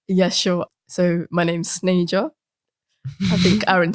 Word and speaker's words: Sneja: So my name's Snay-ja. I think Aaron said Sneja, but it's fine.